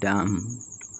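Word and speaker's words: dumb: এফ আর ওয়াই ফ্রাই এম এর পর বি থাকলে বি এর উচ্চারণ হবে না যেমন ডি ইউ এম বি ডাম বি ও এমবি বম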